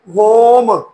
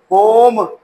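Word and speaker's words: home: देखें होम दो कौन दो वोवेल के दरमियान एम जो है वो कांसोनेंट आ गया तो ई साइलेंट हो गया ओ अपनी लॉन्ग साउंड देगा होम होम इस तरह आर ओ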